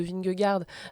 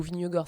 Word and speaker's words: Vingegaard: David Gaudu qui a terminé à 23 minutes de Vingegaard, ou Vingegaard, ça dépend comment vous voulez prononcer son nom, donc le vainqueur du